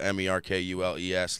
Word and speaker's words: Merkules: Merkules is spelled M-E-R-K-U-L-E-S, like Hercules, but with an M and a K instead of an H and a C. Play in the morning.